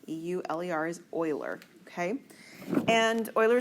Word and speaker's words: Euler: something called Euler diagrams that is how it's pronounced Euler e-u-l-e-r is Euler okay and Euler is a mathematician